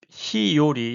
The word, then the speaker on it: 日和: 즉 가을에 초겨울에 쓰는 용어라는 거죠.이 비요리의 뜻 히요리 여기선 히요리라고 읽어야죠. 앞에 고하루가 없으니 자 히오리와 후르쿠라니홍고데 스카라키타코토바데